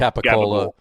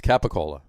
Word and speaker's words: capicola: The rest of the world calls it capicola. Even in Italy, it's called capicola. Right. It's only in this area. It's pronounced capicola. It's capicola.